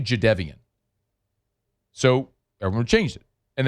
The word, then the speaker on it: Jadeveon: Forever, Jadeveon Clowney was Jadeveon Clowney until he corrected. It was like, it's actually Jadeveon.